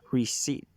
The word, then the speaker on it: receipt: word such as receipt in english we say receipt with no p sounding in the second syllable though some would argue that the p is there to slightly soften the world well we have the